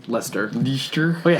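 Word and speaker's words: Leicester: I see II STR so it looks like least er that's likely sure but it's Lester be sure wait how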